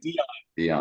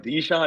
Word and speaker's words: Dion: I pronounce his name Dion. Like Dijon is not right.